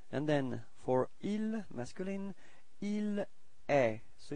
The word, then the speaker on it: il est: Okay, and then for il, masculine, il est. So it's quite strange because it does sound the same as tu, okay, but then there is this final T, but you don't pronounce it. So, il est.